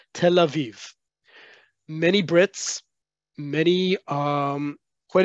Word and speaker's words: Tel Aviv: largest city Tel Aviv in modern Hebrew it's Tel Aviv that yud between the two vets indicates a long e sound Tel Aviv many Brits many um